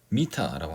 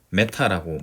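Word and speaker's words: METAR: 한국에서는 메타라고 많이 발음하시거든요. 메타. 근데 미국에서는 미타라고 해야지 메타 이러면은 쟤는 너무 어디서 왔니 이렇게 얘기를 할 수도 있어요.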